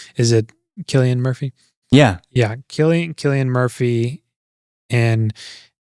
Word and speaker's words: Cillian Murphy: I mean, dude, it's that feeling I get with, I never remember how to pronounce his name. Is it Cillian Murphy?